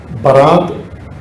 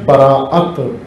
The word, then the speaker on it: براءت: شب براءت، لیلۃ البراءت، برات یہ اس کا عام تلفظ ہو گیا ہے، رائج برات، اصل میں ہے براءت، حمزہ ہے، براءت، تبرع، تبرع سے زیادہ